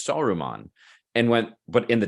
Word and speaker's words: Saruman: you not realize that saruman's evil yeah and they pronounce it aruman I did so in I I wrote this down I was like there's no s they take the S off of Saruman they do and however